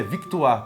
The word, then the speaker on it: Victoire: Sim, a pronúncia é Victoire, porque é do francês, né?